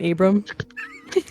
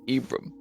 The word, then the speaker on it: Ibram: Do you guys think we should like reunite Celeste and Abram? Ibrahim? Yeah, I mean I'm gonna say his name correctly, but No, it's Ibram. yeah, you guys have just